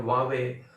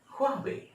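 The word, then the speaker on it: Huawei: हैं H silent है, वावे, वावे ऐसे ऐसे बोलते हैं। इसका असली चाइनीज कंपनी है, इसके प्रोनाउंसिएशन हुआवे, हुआवे, हा शब्द का प्रोनाउंसिएशन वहां है, तो बोलेंगे हुआवे, हुआवे, हुआवे।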